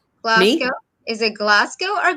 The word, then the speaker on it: Glasgow: Most words I pronounce phonetically, but I say Glasgow with like an R in it. There isn't an R actually in it. It's Glasgow.